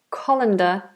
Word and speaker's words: colander: and a CO calendar Co co co C colander is the tool you use in the kitchen